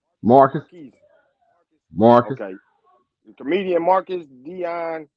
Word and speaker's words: Marquez: Is Marquise? Am I saying it right? Marcus, Marquise. Marcus.